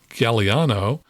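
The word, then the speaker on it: Galliano: Those are pronounced Galeano and Homa.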